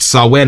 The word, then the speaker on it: Samhain: They generously agreed to let us release their bestseller, Sawen, pronounced Sawen, Marcus, as part of our double feature.